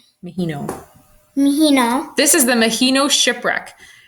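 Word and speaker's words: Maheno: Mahino.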